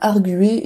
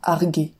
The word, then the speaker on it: arguer: j'ai je l'ai su on dit bien argué et non pas arguer parce qu'en fait le U fait partie du radical du verbe d'ailleurs les rectifications de